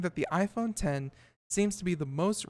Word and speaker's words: iPhone X: will be called the iPhone X pronounce iPhone 10 via a reliable source